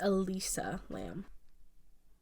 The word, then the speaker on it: Elisa Lam: I just want to let you know, I think you're pronouncing her name wrong. Am I? I think it's Elisa Lam.